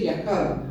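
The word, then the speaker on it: יחד: Y cuando vamos al original, la palabra es yachad, se escribe, y se dice yahad. Los hebreos dicen yahad.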